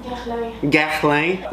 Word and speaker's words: Guerlain: Guerlain.